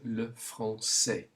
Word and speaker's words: le français: There isn't a country with a S sound with a cedilla, but we have the language spoken in France, which is le français. Just pronounce it to get the combination, le français.